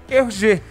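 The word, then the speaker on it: Hergé: remi então é GR ele inverteu colocou RG e a pronúncia é RG olha só que espertinho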